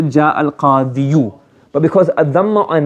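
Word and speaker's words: القاضي: we should say ja al-qadiyu. But because a dhamma on a ya is deemed to be harsh in enunciation, hard to pronounce. So instead of saying ja al-qadiyu, we say ja al-qadi.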